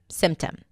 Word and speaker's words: symptom: Usually, when the P appears between two consonants, especially if the first one is an M, it often drops, like here, 'sym-tom'. Okay? , schwa at the end.